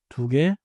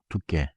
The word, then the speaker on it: 두 개: Say 1시, 두 개, 세 명. Also, do not make 두 개 into 두께.